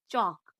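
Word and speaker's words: chalk: इसका अगला रूल है जब ए ओ यू इन तीनों में से किसी के बाद एल आए तो एल साइलेंट होता है। जैसे एच ए एल एफ हाफ टी एच ए एल के चौक एफ ओ एल के फोक पी ओ यू एल D good.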